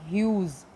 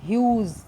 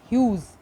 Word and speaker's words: Hughes: a World by Langston Hughes. The correct pronunciation is Hughes and not huge or Hugh. It's Hughes, Langston Hughes.